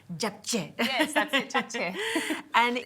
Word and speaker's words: japchae: Now, I never get the pronunciation of this dish right. Japchae? Very close. Japchae. Japchae.